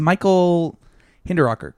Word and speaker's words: Michael Hinderrocker: But our new co-host is Michael Hinderrocker, correct? That's how you say it? Yes, it is.